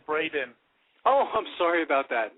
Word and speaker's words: Braden: a lot of times people get my name wrong and they call me Brandon it's actually Braden oh I'm sorry about